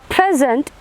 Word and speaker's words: present: Or present, it means that is a noun because the stress is on the first syllable.